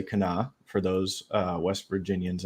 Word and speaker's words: Kanawha: Charleston um on the Kanawha River it's spelled kanawa but you say Cana for those uh West